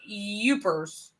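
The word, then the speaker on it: Yoopers: It's pronounced Youpers.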